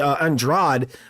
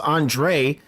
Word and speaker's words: Andrade: versus that guy whose name should be Andra but is pronounced Andre uh he had dreadlocks